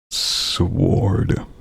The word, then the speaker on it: sword: I overpronounce the word sword. That's how normal people say it. But how I say it, or how I like to say it, is I pronounce it sword. Sword. I put too much punctuation on the W, you know.